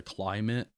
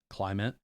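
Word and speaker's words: Klymit: And then they make I think there's a Climate. Um, I think that's spelled with a K. It's K L Y MIT. Climate.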